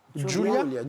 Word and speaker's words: Giulia: Giulia. Pardon, excusez-moi, parce que je vois un G sur ma fiche pour ça. Mais Oui, c'est oui, ça, prononcé à l'italienne.